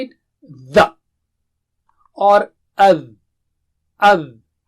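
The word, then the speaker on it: ذ: The or adh. Adh. So don't say it as za. Za is not same as the. So can you repeat after me 3 times? Adh, adh, adh, adh.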